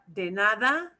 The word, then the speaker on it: de nada: pornada you may but de nada da nada and the d in the nada will sound more like a th than that you know i will